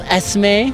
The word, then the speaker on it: Esme: So I'm here with the delightful Esme. Hi. Did I say it correctly? Yes, correct.